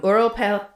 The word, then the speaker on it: Ural: across the northern Earl Ural Mountains. I'm sorry for my inconsistent pronunciation. The correct pronunciation is ural.